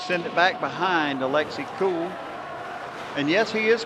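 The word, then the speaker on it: Kuhl: The Huskies send it back behind Alexi Cool. And yes, he is cool, but his last name is spelled K U HL, pronounced cool.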